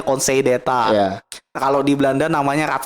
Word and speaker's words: Conseil d'État: Conseil d'État tuh Council d'État itu tulisannya kan. Conseil d'État. Council d'État tulisannya. Bacanya Conseil d'État.